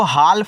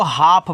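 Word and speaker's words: half: चलिए यानी कि दो के लिए एच ए एल एफ इसको हाल नहीं पढ़ना है। इसको हाफ पढ़ना है।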